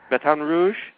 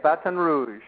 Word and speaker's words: Baton Rouge: all that I know you are you're in B Rouge did I pronounce that right yeah Baton Rouge batan Rouge that's how they say it batan Rouge Baton Rouge I'm I'm pretty good at lingu